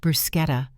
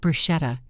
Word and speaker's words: bruschetta: subtly correct Robert, "Honey, it's pronounced bruschetta, not bruschetta," in front of me, making him look foolish.